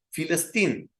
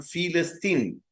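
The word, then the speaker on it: فلسطين: saben hebreo me entenderán, la P y la F es la misma letra, tanto en hebreo como en árabe, el mismo dibujo. Dependiendo de dónde se coloca, se pronuncia como P o se pronuncia como F. Entonces, ellos hasta el día de hoy la llaman Filistín o Filistín. Es decir, que vemos aquí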